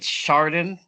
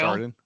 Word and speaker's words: Chardon: Actually, the other day I went online to see how you pronounce it because I was embarrassed and I'm still not sure. I think it's Chardon, Ohio. Chardon.